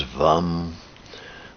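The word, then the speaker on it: vam: not through your body The Bijou mantra for water is vum so if you want to pronounce that vom and imagine the water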